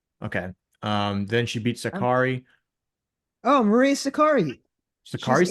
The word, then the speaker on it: Sakkari: It's pronounced Zachary. My Yeah, bad. that's not Zachary.